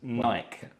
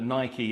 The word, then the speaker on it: Nike: And I'm really happy you pronounced that, because I had to check the pronunciation of Nike. I've heard it said Nike. Yeah. A lot of people say Nike. But Nike is the correct pronunciation, which I checked earlier.